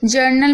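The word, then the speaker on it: journal: जर्नल में भी आप देख रहे हैं ओ यू को आ पढ़ा जा रहा है, तो ओ यू को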